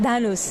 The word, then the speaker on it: Dahnous: Osama Dohonas? Yes. Dohonas, right? Is that pronounced Dhanus?